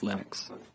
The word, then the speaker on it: Linux: linus and i really don't care how people pronounce my name but linux is always linux he developed a kernel and got it working